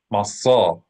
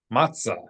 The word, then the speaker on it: matzah: Let's read them in Hebrew. Pesach, Masa, Maror. One more time. Everybody say it together. Pesach, Masa, Maror. We can do it in pop pronunciation. Pesach, Matzah, Maror.